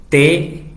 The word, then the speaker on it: the: Y esa TH tiene dos sonidos, una que tiene mucho aire y una que vibra.